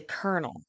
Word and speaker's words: colonel: that wouldn't be weird Colonel I would say kernel Jonathan Orlando jakita gifting